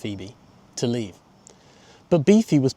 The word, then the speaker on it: Boephe: But after years of listening to Phoebe make small-talk in the back of the car, she asked Boephe (pronounced beefy) to leave.